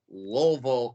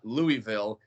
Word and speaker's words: Louisville: love that because this past weekend I was just in Louisville, Kentucky, not Louisville. It's like everyone else in the country. If you say how do you pronounce Louis, they'll say Louis. And if you go to that part of the country, you say how do you pronounce Louis, they'll say Lol.